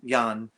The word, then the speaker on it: Jan: the beginning and um it's the dutch pronunciation of john he's young and he um he